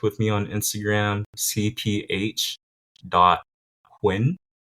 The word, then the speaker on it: Huynh: One, and also two because like the word, like that sound, the phonetic of the word is, you know, my last name and I I'm a winner, you know, like I love it.